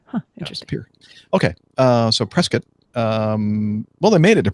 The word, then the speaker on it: Prescott: John Wayne Airport in Orange County, heading to Prescott, Arizona. Prescott. Oh, really? Yep. I've never heard anybody pronounce it that way.